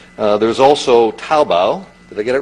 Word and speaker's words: Taobao: There's also Taobao. Did I get it right? Did I pronounce it correctly?